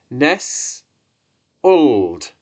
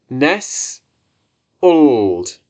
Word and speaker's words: nestled: lesson is nestled and this is pronounced Ness old and again Ness old great so let's have